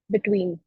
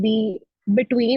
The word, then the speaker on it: Btwin: Between. Okay, it's called Between. It's pronounced.